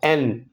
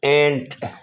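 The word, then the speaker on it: and: ہے جب۔ एन का प्रोनंसिएशन में डी की साउंड अब आजकल हज़फ कर दी गई है और इसको एन बोला करते हैं, एन। अलबत्ता अगर आप रीडिंग कर रहे हैं तो रीडिंग में आप इसको एंड बोलेंगे, पढ़ेंगे, लेकिन आप स्पोकन इंग्लिश में इसको एंड नहीं कहेंगे बल्कि कहेंगे एन।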